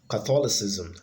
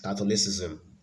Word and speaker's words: Catholicism: one I put up here so we have Catholicism that's the right way to pronounce it Catholicism Catholicism if you're talking about